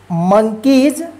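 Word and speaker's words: monkeys: के ई वाई एस मंकीज देखि य वाई के जस्ट बाद एस आया तो इस एस का ज उच्चारण होगा ठीक है रूल्स में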